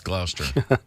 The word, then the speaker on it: Gloucester: And Gloucester, Gloucester, but it's Gloucester.